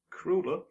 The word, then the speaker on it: Kruller: Yeah, I think it's Kruller. Devonshire Kruller. Kruller? Yeah, like the pastry.